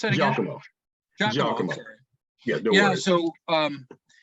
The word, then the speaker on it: Giacomo: How do I pronounce that again? Giacomo.